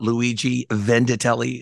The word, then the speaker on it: Luigi Vendittelli: We got Luigi Vendittelli today. Did I pronounce that correct?